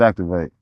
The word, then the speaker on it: Zactv8: I never even thought about what my name would be, but I always written my name as ZAC TV8 for some reason. It's Activate all of my pictures, but I never even thought about that to be my tag name.